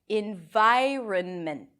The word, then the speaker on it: environment: In vi, and then run, an R, a schwa, and an N.